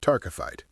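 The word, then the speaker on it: taaffeite: Now, I know it doesn't look like it's pronounced that way, but it is tararkyte.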